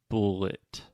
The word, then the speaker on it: bullet: Okay, you're saying but it's bullet.